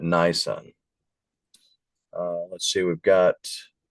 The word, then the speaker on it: Nisan: Not Nissan but Nisan.